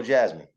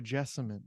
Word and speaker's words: Jessamine: Carolina's state flower yellow jasmine yes sir the yellow it's actually pronounced the yellow Jessamine if you want to get real yeah the real political